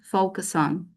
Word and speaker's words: focus on: is the verb and the stress pattern focus on focus on. So the stress goes to the first syllable.